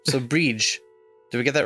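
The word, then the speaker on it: Bríd: It's pronounced with a long E, similar to the English word breed, but the final D is like the D in Bridget. Breege.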